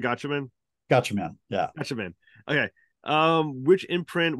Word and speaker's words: Gatchaman: Am I pronouncing it right? Gatchaman.